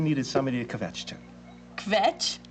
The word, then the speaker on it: kvetch: Kvetch? Kvetch. That's the right word, right? Complain, run on about it all. I say it right? Very good, Dr.